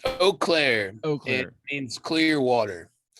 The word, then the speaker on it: Eau Claire: well you're you're from is it you claire is that how you say it oh it's eau claire okay it means clear